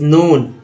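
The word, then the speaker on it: known: Years plus net सोन area is नोन, OWN को ऑन, तो के चूंकि यहाँ साइलेंट है, एन से स्टार्ट होगा, तो नोन एज ग्रॉस क्रॉप्ड।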